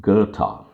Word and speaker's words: Goethe: famous german philosopher and statesman his name is pronounced gerta so he says whatever you can do or